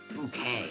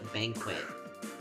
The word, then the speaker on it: bouquet: I named it like bouquet. I named it bouquet. Um, but the entire time I call it banquet because that's how like bouquet is spelled.